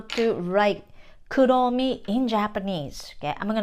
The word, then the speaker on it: Kuromi: English, R, right, but in Japanese we don't have an R sound, we always use L sound.